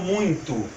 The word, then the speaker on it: muito: for para anunciar o muito o muito é bem anasalado eu vou fechar o meu nariz aqui para vocês perceberem essa análise essa nasalidade huyton muito perceba que o som